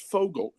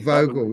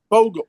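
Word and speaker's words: Vogel: One on Marcel Vogle and one on the um you know, and it's pronounced Fogle because it's German. Oh, Vogle. Is it okay? Fogle.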